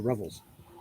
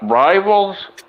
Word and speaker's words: revels: Rivals? Revels. Revels. Like revelry. Revel? Party Revels. celebrations. Yeah. Like rebel, only with a V instead of a B.